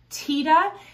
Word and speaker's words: Tiede: before we continue just a quick note that tita is actually the way that i've heard bernie pronounce his own last name there's a lot